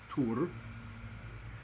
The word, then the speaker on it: Tyr: lands of our ancestors tear pronounced tur increases in spring when